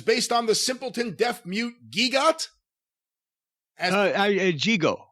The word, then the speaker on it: Gigot: Gigo, excuse me. Gigo. As portrayed by Jackie Gleason. See photos. In the 1962 major motion picture. That's what it says here. Very good. And that's Gigot is the way that's spelled.